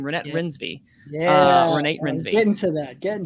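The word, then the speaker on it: Renate Reinsve: duh uh uh uh renee i believe pronounced her name rynette rinsby yeah get into that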